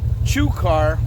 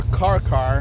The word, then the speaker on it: chukar: And so now in Ohio, chukar or karkar, however you want to pronounce it, they're not native to Ohio, but they're part of the partridge family, and a lot of people hunt chukar. I call them chukar, some people call them karkar.